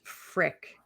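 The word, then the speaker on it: Fricke: by ron i think his name is pronounced frick f-r-i-c-k-e but he he uh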